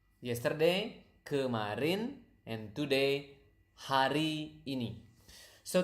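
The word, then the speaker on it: kemarin: yesterday it isarin okay again repeat up to me so that you can pronounce the word correctly Karin natural speed Karin Karin okay that's yesterday now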